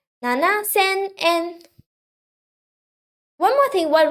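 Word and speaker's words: 七千: the answer seven thousand seven in two thousand seven is nana and thousand is ascent and then you add n don't forget to add n at the end okay seven thousand n nana sen and one more thing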